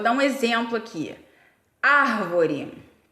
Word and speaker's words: árvore: um exemplo aqui a árvore a palavra árvore tem acento lá no ar não é porque porque ele é proparoxítona quer dizer que aquela antepenúltima sílaba é tônica quando você vai separar